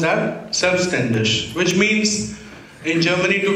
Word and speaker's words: Selbstständig: Okay, this is pronounced as Selbstständig, which means in Germany to be self-employed.